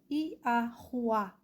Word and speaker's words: Yahuá: Então, o som desse nome é Iahuá. Transliterado com as letras referenciais, se escreve Yahuá. Yod, Ya. H com som de R. O Vav com som de U. AH, então é um som de A tônico. A. Yahuá.